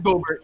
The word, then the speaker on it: Gobert: It was Gobert.